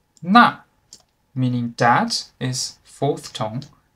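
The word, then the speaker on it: 那: the left and the second difference is the pronunciation na meaning that is fourth tone na meaning with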